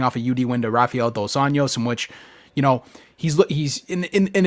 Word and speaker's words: Rafael Dos Anjos: I didn't pronounce the hard R like Rafael the Ninja Turtle, did I?